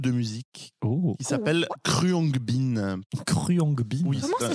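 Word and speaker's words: Khruangbin: pour un groupe de musique oh qui s'appelle cruongbin cruongbin comment ça s'écrit alors ça c'est écrit alors de toute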